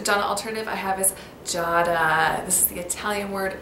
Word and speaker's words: Giada: My first Gianna alternative I have is Giada. This is the Italian word for jade, and it is sometimes pronounced Giada as well.